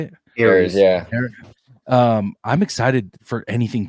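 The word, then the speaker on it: Ares: Is it Eris? Is that how you say it? Aries, yeah.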